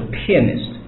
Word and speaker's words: pianist: 人呢，读的时候是 pianist 啊，有点发音上面